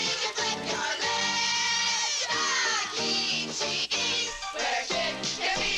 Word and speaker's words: Chuck E. Cheese: Cheeses also. Because it even, like Chuck E. Cheese, where a kid can be a kid, doesn't make as much sense as Chuck you're E.